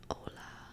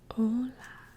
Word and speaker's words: hola: Hola. The H in hola is silent.